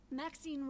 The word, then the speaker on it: Maxine: little cat exquisite varieties maxine rhymes with queen after all and dearest